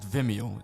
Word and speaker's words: Vimeo: I pronounce it Vimeo. Instead Vimeo. of video, Vimeo. Because it's an M instead.